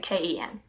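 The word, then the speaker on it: כן: it's lo different letters in hebrew but pronounced like ello lo and then yes is gen like k-e-n ken yes lo no so those are hebrew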